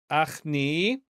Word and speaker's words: achni: And then we have yod, achni, and then, wait a second, oh, final nun, okay? But that has the elision mark over it, so we're not going to pronounce that, okay?